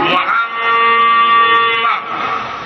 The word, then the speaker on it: মোহাম্মদ: কইরা যায় আল্লাহও বলছেন আমার নবীর নাম উচ্চারণ করবা মিমের উপরে মিম উঠাইয়া দিয়া ওয়াজিবুল জাত বড় ওয়াজিব মোহাম্মদ এইভাবে জাতারা ধরে উচ্চারণ করতে হবে সুতরাং তার নামকে মোহাম্মদ